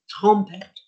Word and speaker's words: trompette: But it's not trumpet with an O, it's an ompet, trompet.